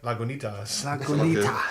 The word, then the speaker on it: Lagunitas: Just to It's mention, actually it's got the pronunciation on the bottle, Oh, cheeky. which is exactly what I said. Lagunitas.